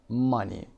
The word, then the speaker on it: money: lover and cover rhyme hope that money and funny funny rhymes with money B look at some